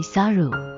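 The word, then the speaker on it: さる: 因为猴子的读音为 Saru，与胜利和远离灾难谐音，所以被视为神的使者。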